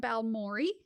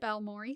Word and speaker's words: Balmorhea: to a small town balmi Texas sorry if that's wrong I am sorry I heard others pronounce it this way so sounds good balmore Texas cool is located